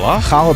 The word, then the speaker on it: challah: We have, say it right, challah bread. Challah bread.